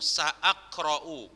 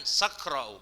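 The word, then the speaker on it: سأقرأ: Jadi bacanya ini nahwu sa'aqra'u, bukan sakra'u, bukan sakra'u, enggak.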